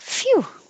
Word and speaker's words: phew: and 19 is um spelled with a ph it sounds like an f it would be like phew like that was close